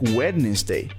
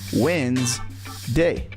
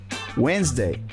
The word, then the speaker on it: Wednesday: spelled it sound like wedes day but in reality it's just two syllables the way you pronounce it is simply Wednesday Wednesday same thing with the